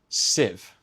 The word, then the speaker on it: sieve: First, pay attention to the word civ. It's spelled like believe, but is a short I I sound. It rhymes with give and live.